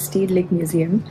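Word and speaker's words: Rijksmuseum: that I've learned is that I have been pronouncing the name of this Museum wrong it's actually called State Lake Museum but they are always nice to have an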